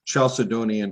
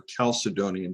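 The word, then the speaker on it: Chalcedonian: I don't know how many of you are familiar with the Chaledonian or Calcedonian. Depends on if you pronounce the ch as a hard K sound or just a ch sound.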